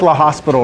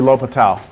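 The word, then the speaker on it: L'Hôpital: It looks like La Hospital, right? Yeah. Like La Hospitals, but it's actually L'Hopital.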